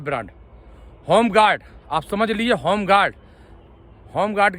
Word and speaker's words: Homguard: होमगार्ड आप समझ लीजिए होमगार्ड होमगार्ड की स्पेलिंग मैं आपको स्पेल कर दूं एच ओ एम जी यू ए आर डी होमगार्ड उसमें ई नहीं है ई साइलेंट है एच ओ एम जी